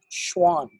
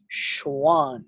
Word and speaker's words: Schwann: down myelin it is produced by something called Schwann or Schwann cells you guys say it like that you got a view full sent on this one you got to go Schwann cells because the Schwann cells themselves produce myelin